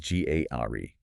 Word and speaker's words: Ghamari: And just for anyone joining us for the first time, that is pronounced Ghamari.